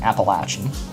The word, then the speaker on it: Appalachian: Appalachian. It's a correct way to pronounce it. I'm a freak out. I'm a freak out right now. Uh small town Appalachin cop.